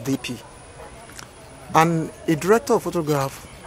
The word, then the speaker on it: DP: Some people call it DOP, but it's the real pronunciation is DP.